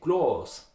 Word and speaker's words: Glas: Let's take the word Glas with an A. In Austria you would say Glas with an O.